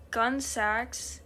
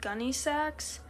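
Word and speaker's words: Gunne Sax: I would say gunmetal, which, funny thing is, I found gun sax is actually pronounced gunny sax, so in that context, gunmetal would be pronounced gunny metal.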